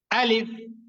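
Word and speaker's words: ألف: সবাই ধমকের স্বরে বলতে হবে হ্যাঁ ধমক দিয়ে আলিফ সবার শেষে কিন্তু প এর মত উচ্চারণ যাতে না হয় সবার শেষে কিন্তু ফ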